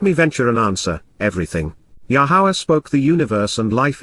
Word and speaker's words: Yahowah: and then enjoy being sexual thereafter moreover even yahwah is displaying a sense of humor after Sarah